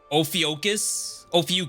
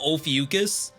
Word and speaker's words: Ophiuchus: true way to kill Ophiuchus. I think that's the right pronunciation. The only real way to kill Ophiuchus is to kill him with his own magic.